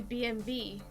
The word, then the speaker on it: BMW: Speaking of German and the letter V, BMW is technically supposed to be BMW. Because a W is pronounced as a V in German.